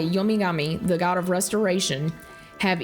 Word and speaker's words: Yomigami: So, Gami is another, like, they change pronunciations a little bit, but the kanji for Gami is the same as Kami. So it's just pronounced with a G instead of a K.